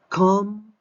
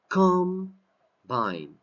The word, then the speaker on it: combine: Combine. Combine. You see the accent? Combine as a noun. Combine as a verb.